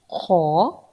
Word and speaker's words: خ: Now let's practice Kha. It's pronounced from the upper throat.